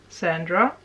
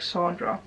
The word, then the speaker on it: Sandra: thing there is that i learned to actually pronounce my name how i like and it's interesting i actually just it just reminded me of something because i always pronounced it like saundra but i never really liked that but it just